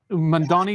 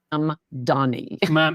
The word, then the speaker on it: Mamdani: in New York with Mamdani. Is that his name? It's very hard to pronounce because in English, there's no word that has an M followed by a D. It's hard for your mouth.